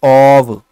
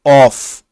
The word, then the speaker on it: of: पहली बात तो आप याद रखिएगा, इसका जो प्रोनाउंसिएशन होता है वो होता है ऑव, ना कि ऑफ।